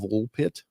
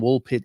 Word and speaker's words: Woolpit: old story over in woolpit England and uh and it's absolutely bizar but uh how do you spell that W LP T just like it sounds pit okay right all